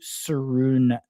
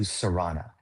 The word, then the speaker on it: Sarana: update here with Saruna. And I may have mispronounced your name, so apologies there. How you doing? Hey, pretty good. It's Sarana. Sarana, got it. Yeah, you're very close.